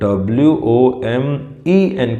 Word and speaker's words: women: अच्छा, इसकी प्रोनाउंसिएशन देखो भाई, WOMAN को बोलते हैं वुमन, और WOMEN को बोलते हैं women। Look at my lips, women. W का प्रोनाउंसिएशन के लिए you have two round your lips, वुमेन, women.